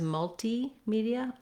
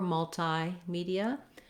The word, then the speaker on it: multimedia: You can say it as multimedia or multimedia. And so I've written it out here with both. In the dictionary, you'll see two different entries, and you'll know that that means both are correct and correctly used.